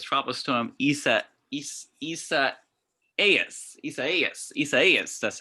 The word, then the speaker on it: Isaias: Yeah, it's tropical storm Isaias. That's how they pronounce it.